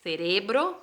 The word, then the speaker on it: cerebro: De 10 a 12, el cerebro, cuidado con la pronunciación, que se dice cerebro, ¿sí?